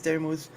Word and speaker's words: Daramouthe: My name is Daramouthe, or Dara for short, because some people still say Daramouthe, which is the odd thing because there's a silent E at the end, and I say it,